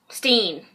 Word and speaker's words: Berenstain: Steen. And it's spelt B-E-R-E-N-S-T-E-I-N.